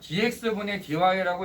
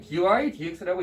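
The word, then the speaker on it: dy/dx: 학교 선생님한테 수업을 들어보면은요, dx분의 dy라고 읽는 분들이 꽤 많이 있어요. 근데 정말 미안한 말이지만 다 틀린 거예요, 그거. 엄밀하게 말하면 하나의 완성된 기호이기 때문에 dy dx라고 읽어주는 게 의미가 맞다는 거죠.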